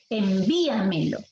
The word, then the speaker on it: envíamelo: Envíamelo, ¿está bien? Ahí está una palabra sobre esdrújula, ¿sí? Envíamelo. Esa es la cuarta sílaba, no es en, ¿ah?